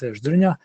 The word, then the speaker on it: Zdrnja: is easy it's my last name is dunya it's a bit more difficult so if you can't pronounce it don't worry about it I'm one